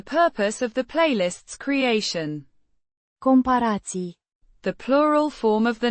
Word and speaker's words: comparații: Comparații. The plural form of the noun. Comparație. Comparison. Pronounced. Compahirații. It has several syllables with emphasis on the Pa. sound.